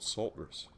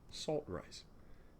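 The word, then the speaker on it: saltrice: and salt rice now i used to call it sultrus for years you know thinking oh yes ultras like um pumice you know surely that's what it must rhyme with volcanic pumice rather than salt rice with food you know because to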